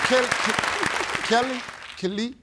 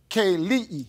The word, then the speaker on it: Kelii: Is it Kelly? Kaylee.